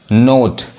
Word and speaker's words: note: तो ये NO अब यहाँ नो नहीं पढ़ाएगा, क्या पढ़ाएगा, नो पढ़ाएगा, नोट, MO मो, CHO चो, समझ में आ रहा है।